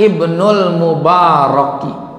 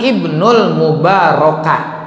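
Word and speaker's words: ابن المبارك: Wakila annahu raja'a Ibnul Mubaraka. Tuh, ya, Mubaraka yang enak, karena Ibnul Mubaraka. Yang enak memang Ibnul Mubaraki, mudah-mudah pilih, tapi nggak boleh. Jadi bacanya tetap Ibnul Mubaraka ya, Mubaraka.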